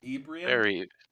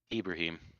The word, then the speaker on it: Ibrahim: was a cool guy Ibrahim Ibrahim it's like Abraham yeah I was gonna